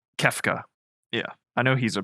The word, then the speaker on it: Kefka: I think it's like Klefka or something. I gotta find that. The clown guy. I think it's like Klefka or something. Yeah, Kefka.